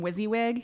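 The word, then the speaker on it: WYSIWYG: and also so you know the the acronym wizzywig you know when you're creating a website or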